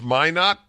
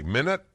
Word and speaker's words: Minot: It's pronounced Minot, and what did I say? Minute?